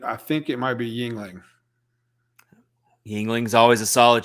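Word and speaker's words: Yuengling: there justin it's okay yep yep he says yingling see it's here's how it's spelled there's how you that's the right way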